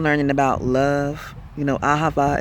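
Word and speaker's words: אהבה: You know, ahava is how you say it in Hebrew.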